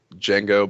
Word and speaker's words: Django: You were talking about bounty hunters and interstellar stuff, and I was thinking Star Wars and Django, but I beat Django with a D. The D is silent.